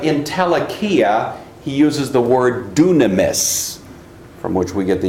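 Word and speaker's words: δύναμις: Looks like dynamis, but it's actually pronounced dunamis.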